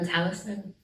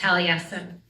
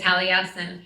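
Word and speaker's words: Taliesin: But when I was first learning his stories, I think I mispronounced his name for about three or four years. And so when I connect with him, that is my loving nickname for him, Talison. And I share this his proper pronunciation is Talesin.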